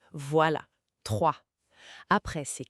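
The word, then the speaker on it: trois: Là, on a le fameux R. Oui, ce re qui vient du fond de la gorge. Doucement, pas besoin de forcer. Et le s à la fin. Mué, on ne le dit pas. Ça fait juste 3.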